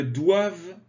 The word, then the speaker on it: doivent: Ils ne doivent pas. Attention, doivent. On ne prononce pas le ENT.